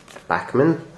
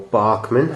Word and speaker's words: Bachmann: And it's Bachmann, or Barkman, however you choose to pronounce it. It doesn't really matter.